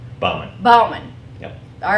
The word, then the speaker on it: Bauman: with icon business advantage or do we pronounce it Bowman Bowman Bowman yeah all right because we had that